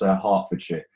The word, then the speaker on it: Hertfordshire: And you did pronounce that wrong, Brandon. That's Hertfordshire.